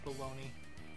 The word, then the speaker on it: bologna: my favorite part is spelled like bologna but it's baloney God damn it yeah